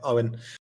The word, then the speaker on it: Owen: Yeah, you might read it as Eogan, but it's a Irish pronunciation of my surname, Owen.